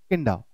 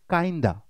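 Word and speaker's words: kinda: इस particular word की pronunciation बहुत लोग गलत कर देते हैं, इसकी बोल देते हैं किंडा, राइट। आप इस वर्ड का यूसेज कर सकते हो, लेकिन आपको पता होना चाहिए ये किसका। आप सबसे पहले इसकी प्रोनाउंसिएशन को आप सही करेंगे, इट्स काइंडा।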